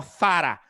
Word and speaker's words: Zara: estaba súper mal pronunciado porque la marca es española y se pronuncia para si nos fuésemos a tratar de pronunciarlo bien con la zeta española yo ahí estoy tratando